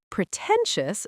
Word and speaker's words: pretentious: Pretentious stresses the second syllable, pretentious.